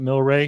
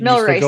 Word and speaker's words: Mill Race: Am I pronouncing that Milray? Mill race monster.